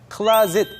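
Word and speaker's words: closet: 그리고 두 번째 표현은 cl it 있데요 뭐처럼 쓰여져 있지만 사실 발음이 완전 다르죠 클라로 시작이 되고요 cl it 벽장을 말합니다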